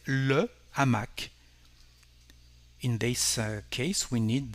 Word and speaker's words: hamac: To say a hammock, in French we will say un hamac. No connection between the two words, but again, this H is silent. We don't pronounce it, we just have a stop between the two words.